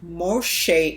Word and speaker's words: Moshe: And most of all, when we look at the word Morsha or Moshe, having the word Moshe in it, likely the real pronunciation of Moses, Moses' name, we see it throughout the culture of the Hebrews.